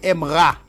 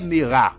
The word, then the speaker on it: aimera: est alors il aimera on ne dit pas il est Mirac la réalité est ici est miette c'est à dire on ne va prononcer la lettre et ici il aimera vous ne pouvez pas dire et alors excuse-moi on dit il aimera vous ne pouvez pas dire il est Mira il aimera ok verbe irrégulier ok allez